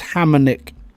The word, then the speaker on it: Hammernick: No one can pronounce it right the first time. It's Hammernick. Hammernick.